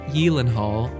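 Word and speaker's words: Gyllenhaal: in life number 11 Jake yenal and Reese Witherspoon yes that's actually how you pronounce his last name the actor who's been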